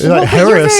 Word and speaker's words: Herries: I was like yes this is Harry that is how these letters work phonetically yeah that's how that's what this makes that's what the series of letters makes haris is h a r r i e es correct no totally but